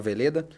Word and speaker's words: Veleda: Então, Águas de Veleda, só pesquisar meu nome. E nas redes sociais, eu acho que é interessante se conectar por lá, né? Então, @miguelmveleda, bem como se fala, com V mesmo.